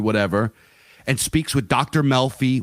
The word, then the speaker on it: Melfi: Melfi, which rhymes with Delphi, where she kind of gives him premonitions.